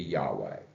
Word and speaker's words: Yahweh: speaking who if they're speaking the German pronunciation they say Jehovah if they're speaking most likely a more traditional Hebrew uh speaking it would be Yahweh and we by convention